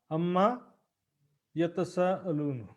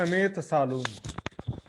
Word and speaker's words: अम्मा यतसा अलून: ये देखिए अम्मा यतसा अलून, देख रहे हैं, ये है शुद्ध अम्मा यतसा अलून। अब इसी को वाणी में लिखा है अमेत सालून। वाणी में थोड़ा क्या शॉर्ट में अपभ्रंश के रूप में ऐसा उच्चारण में जैसा बोल देते हैं ना, अम्मा यत सालून, तो जल्दबाजी में अमेत सालून जैसा उच्चारण हो जाता, तो लिखने वाले के जैसा बोले वैसा लिख दिए, लेकिन बारीकी से देखेंगे तो अम्मा यतसा अलून होता है।